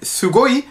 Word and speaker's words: sugoi: ungefähr ganz gut hinbekommt bei dem sugo haben wir jetzt den fall dass dass es am anfang auf deutsch eigentlich wie ein weiches es ausgesprochen wird im japanischen wenn dann es steht also matthiesen deutsches es wird es aber immer wie ein scharfes s ausgesprochen also nicht neu sondern